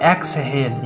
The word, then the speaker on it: exhale: Okay, तो बच्चों मुझे लगता है आप उच्चारण समझ गए होंगे कि लास्ट में या कहीं ALE रहने पर उसका साउंड जो है वो एल की तरफ आएगा।